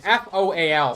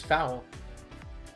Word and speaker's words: foal: It's pronounced foal? That makes sense then. I always thought it was foul.